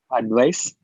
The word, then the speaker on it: advice: Can you pronounce the noun for me? Advice. That's great. And the verb? Advice. Sounds very similar. This one here, pretend it's a z like this. How would you pronounce it? Advise. Advice. Advise, yeah. Advice. Now that's a big difference.